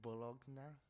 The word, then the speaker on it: Bologna: you're fucking stupid, or bologna. I don't know. Because bolognese, because GN is pronounced ñ, ñ, ñ, ñ, ñ, ñ, like gnomo, uh, Bologna, Pagnotta, um, other uh, GN words, I don't know.